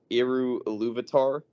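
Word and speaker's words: Eru Ilúvatar: But like in the beginning in this universe in the Lord of the Rings, I think his name's pronounced Eru Iluvatar.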